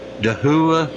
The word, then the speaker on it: Dahua: little demonstration of uh dahua I think it's how it's pronounced d a h UA uh it's a security webcam